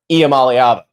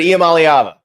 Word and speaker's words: Iamaleava: from Nico and yes the pronunciation thing iala iala iala iala iala hold on one more time I alava for anybody else who needs to hear it iam alava it's just we we're